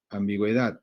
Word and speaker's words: ambigüedad: Porque el sonido de la U se pronuncia por lo de la diéresis. Ambigüedad, ¿no?